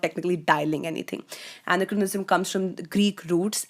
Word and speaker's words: anachronism: Anachronism, which is also, you can also pronounce this as anachronism, but this essentially means incongruity.